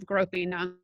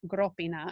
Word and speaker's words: Gropina: They are a giveaway in that they have the accent on the first syllable. Italian uses the accent on the next to last syllable. So Gropina is an Etruscan place